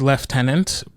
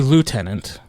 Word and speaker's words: lieutenant: Because we say lieutenant, right? And the Brits say left tenant and in that scene he says I'm the left tenant but the lord loot